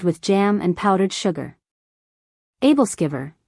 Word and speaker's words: Æbleskiver: Æbleskiver, pronounced Æbleskiver, are traditional Danish spherical pancakes, often enjoyed during the Christmas season.